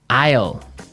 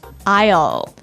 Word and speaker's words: isle: it's a tricky word it sounds like the contraction of I will yeah but it's spelled so strangely right we don't pronounce the S the S is silent that's true Isle so